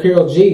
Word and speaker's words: Karol G: was Selena sound so uh shout out to Carol G man yesterday that's how you say it what